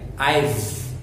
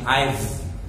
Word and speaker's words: I've: I've. Right? Change your pronunciation. I've. Right? I've. With a V sound.